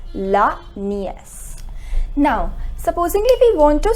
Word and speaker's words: nièce: Then niece, it is written in the same way, but we put this accent, and due to this accent the pronunciation becomes la nièce. It is la nièce.